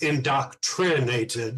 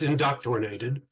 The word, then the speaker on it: inDoctornated: Now, keep in mind, it is spelled inDoctornated, not indoctrinated. It's inDoctornated.